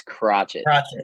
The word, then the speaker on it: Crotchett: afraid to say it it's crotchet crotch it okay I didn't know if it was crochet or cry okay watch